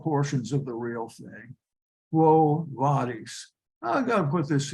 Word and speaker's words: Quo Vadis: Now that is pronounced Quo Vadis in Latin. The V always has a sound of W. Short I has a sound of a long E.